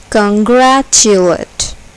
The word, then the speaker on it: congratulate: is accented black first congratulate congratulate here the second syllable is accented congratulate vegetable vegetable here